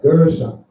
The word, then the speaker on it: Gershon: I don't think you say the name right. Not saying the name right. It almost sounds like the right name, but you ain't saying it right. Gershon, right? Gershon.